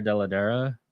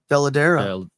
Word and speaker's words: Dell'Edera: I've heard people say Werther Dell'Edera. Dell'Edera. What you said sounds correct.